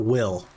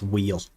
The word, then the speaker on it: wheel: you can do this cuz it's wheel see Wy l l wheel it's not will it's wheel it's good advice you're